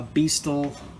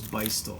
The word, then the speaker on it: Beistel: In the front here is a Beastal. Is it Beastal? No, it is not. You hear a lot of people say Beastal, but the company is actually, the pronunciation is Beistel.